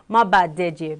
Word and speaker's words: Mabadeje: And his name is Mabadeje. Yes, let me pronounce like a Yoruba girl. Mabadeje, Big.